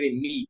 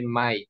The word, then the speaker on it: Mike: Some people want to say Meek, but no, you say Mike.